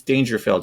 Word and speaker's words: Daingerfield: And just a a point of clarification for myself, your last name is Dangerfield, right? I pronounced that correctly.